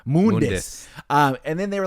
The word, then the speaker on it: Mundus: It's it's pronounced Mundus. Mundus.